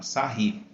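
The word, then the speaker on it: Sarrus: Se pronuncia assim, tá? Sarry.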